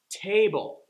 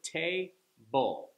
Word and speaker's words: table: Table, okay? That's a two-syllable word, table. Table. That first syllable, you hear how it gets the stress?